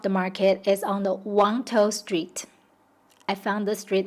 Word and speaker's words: Wang Tau: I know on the map it says Wangtou, but that's how Hengtou is pronounced in Hakka dialect.